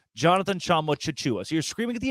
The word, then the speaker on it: Jonathan Tchamwa Tchatchoua: The book, the actual pronunciation guide, is different from the audio that John gave them, where he says Jonathan Tchamwa Tchatchoua.